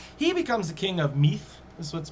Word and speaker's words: Meath: becomes the king of meath that's what's pronounced as nowadays it's spelt m-i-d-e but it's m-e-a-t-h in english he's the king of